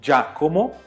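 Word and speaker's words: Giacomo: Então, por exemplo, você fala aqui, ó, Jaccomo, porque tem o I.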